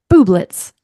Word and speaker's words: Bublitz: I didn't ask her how to pronounce her last name. Yeah, well, just have a go. Bublitz.